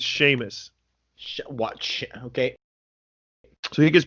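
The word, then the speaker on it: Seamus: first time yeah definitely definitely was see it's sheamus watch okay so he gets paired with sheamus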